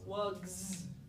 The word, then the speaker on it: wugs: wugs, right? So listen to that sound at the end. Wugs. Is that an S? It's a Z sound, okay?